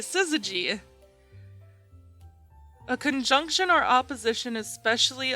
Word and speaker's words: syzygy: on all right let's see oh i was pronouncing it right syzygy a conjunction or opposition especially of the moon